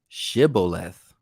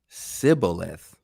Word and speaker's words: shibboleth: then said they unto them so like it then say they unto him say now shibboleth and he said sibboleth where he could not frame to pronounce it right then they looked then